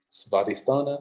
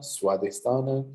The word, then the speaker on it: Svadhisthana: Svadhisthana, Swadhisthana, it's all the same, correct.